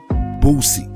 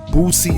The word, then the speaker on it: Boosie: Alright, now yes, I know you must pronounce the S when saying his name, but I guess with what y'all call an accent, that S in Boosie just don't sit right with me.